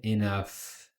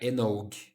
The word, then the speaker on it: enough: Ah, enough, bem diferente, né? Enough. Ah, pronúncia isso aqui, ó. E enf nada a ver, né? Não é enog. enough.